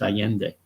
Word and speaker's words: Allende: is how you spell his name, and it's pronounced Allende.